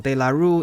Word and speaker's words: De La Rue: Before you say my pronunciation is wrong, De La Rue is a British company specialized in making secure documents. That's why I pronounce it in the English way, not the French way.